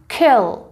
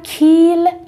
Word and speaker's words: kill: تلفظش چی شد؟ kill. kill. لطفاً kill نخونید، این ای کوتاه.